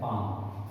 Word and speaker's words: palm: पाम means हथेली, PALM, पाम, PALM, पाम, ध्यान देना, एल साइलेंट है बेटा, यहाँ पे एल का प्रोनाउंसिएशन नहीं होगा, है ना, पाम, जैसे